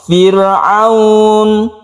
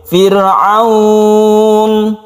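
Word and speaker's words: فرعون: adalah menjadi sukun jadi kita boleh membacanya satu Alif contoh Firaun satu Alif atau dua Alif Firaun atau tiga Alif Firaun itu tidak masalah kita harus berhenti di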